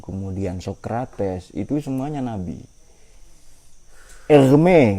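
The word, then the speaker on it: Hermès: sokrates itu semuanya nabi egme kata egme Kan merek tas tulisannya sama cuma beda cara bacanya Ya kalau ini merek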